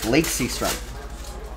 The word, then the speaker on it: Lake Seastrunk: And his name is pronounced Lake Seastrunk.